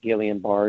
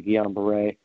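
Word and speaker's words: Guillain-Barré: by two French scientists some people call it gallion bar it doesn't really matter but it's pronounced technically Guillain-Barre um uh it says neurological disorder that there's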